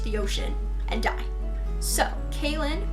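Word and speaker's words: Kahlen: ocean and die so kin it's like Caitlyn but without the T and it's spelled differently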